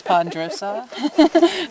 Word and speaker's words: ponderosa: kind of cheat because you have to sort of slur the word together so it only has three syllables pondosa but it is three